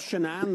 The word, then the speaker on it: Shannan: lives tweeted quote Chris Watts the husband of Shannon that's how you pronounce it has been placed into custody and